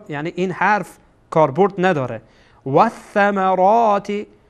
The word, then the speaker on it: والثمرات: وث وث یعنی ول ول ثمرات نمیخوانین، اشتباهه. ول ثمرات اشتباهه چون ثا از حروف شمسیه هست، یعنی که واو مستقیم یعنی لام هیچی میشه، لام تلفظ نمیشه، مثل که در زبان